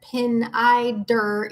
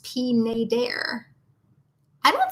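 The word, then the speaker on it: Pineider: pronouncing pnai der wrong it isn't pin I derp its peen a dare I so because we visited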